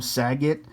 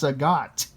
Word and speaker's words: Sagat: to know anne that some people have trouble pronouncing his name it's like they call him sagitt some call him sagat some call him say god it's like his name is nothing his name